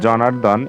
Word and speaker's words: জনার্দন: এরপর হচ্ছে জনার্দন, এই শব্দটিতে আসলে কোনো পরিবর্তন নেই, শুধুমাত্র আমরা রেপ দেখতে পাচ্ছি। এই রেপের পরিবর্তে আমরা আসলে বয়বিন্দুরা ব্যবহার করেছি, আর কোনো এখানে পরিবর্তন হবে না।